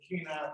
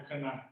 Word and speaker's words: Kenai: Where we're located actually is the Kenai Peninsula, not the Kenai.